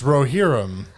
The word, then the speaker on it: Rohirrim: It depends on what language you're speaking it in. Sure. In English, it's Roherum.